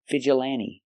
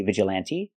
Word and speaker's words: vigilante: hand and man f the t is silent you don't have to pronounce a t because n t between vowels you don't hear the T vigilante vigilante you can pronounce